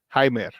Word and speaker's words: Jaime: right before it they acquired third baseman uh jamer candelario Jaime just trying to say it properly Jaime canelario